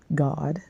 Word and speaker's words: Gad: how you pronounce this and how you pronounce Gad you pronounce it God so I wanted you